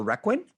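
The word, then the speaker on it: Requin: And you also starred in The Requiem. Is that how you pronounce it?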